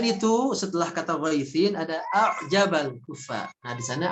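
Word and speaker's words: أَعْجَبَ: Selain itu, setelah kata ghaitsin ada a'jabal kufa. Nah, di sana ada hamzah bertemu dengan ain, maka cara bacanya hamzahnya dijelaskan a'jaba, a'jaba, jangan a'jaba, a'jaba, gitu ya.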